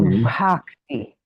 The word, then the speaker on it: bhakti: vowel in between, but how about the fact that you hear the H quite clearly? So bhakti. So well, that was good, yeah. So are we allowed to pronounce the H, or should that be quite silent as well? Oh no, the H you do hear. You do hear it quite distinctly, because, for example, to